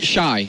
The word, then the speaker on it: XY: What's the correct pronunciation? Shy. Shy. All right, so Shy.